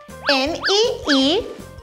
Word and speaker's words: Meekah: Should we spell it on the planet? Science style. Let's do it. M-E-E-K-A-H.